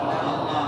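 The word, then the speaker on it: الله: সে আরবি হরফগুলি কি? আলিফ লাম লাম হা। বলে তো দেখি উচ্চারণ কি হলো? আল্লাহ।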